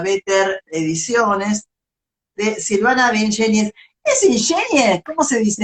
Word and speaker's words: Ingeniis: Es de Ingenis. ¿Quiere decir? Porque como eran dos, yo decía de Ingenies.